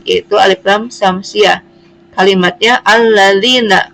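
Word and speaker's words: الذين: Kalimatnya alladzina. Kenapa disebut alif lam syamsiyah? Karena alif lam menghadapi huruf lam. Lam itu termasuk salah satu syamsiyah. Jadi alladzina.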